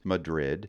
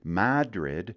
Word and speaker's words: Madrid: of Spain Madrid however here in Maine you can hear that town pronounce three different ways Madrid Madrid or Madrid take your pick You're Gonna Be Right